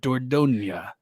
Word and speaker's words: Dordogne: I looked up a pronunciation guide when I did my video on it. Dordogne.